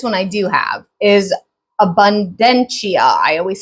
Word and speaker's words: Abundantia: Guiding goddess, now this one I do have, is Abundantia. I always say her name. I always have a hard time saying her name. It's like abundance. Abundantia is how I think you say it.